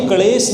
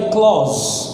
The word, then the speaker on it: clause: है, कलेश मत कर, ये क्लेश नहीं है, ये है क्लॉज। क्या कहेंगे, क्लॉज। हाँ, नहीं क्लेश मत कर अभी, ठीक है, अभी इसको समझ। It's pronunciation is क्लॉज।